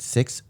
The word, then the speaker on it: sixth: It's one syllable. Sixth. But there's an accent. It could be like 1.5 if you think about it.